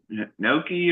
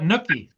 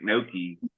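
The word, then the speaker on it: gnocchi: uh no no uh Noki or whatever that is um it's called Uh not no no you don't you don't pronounce the G what what's what's that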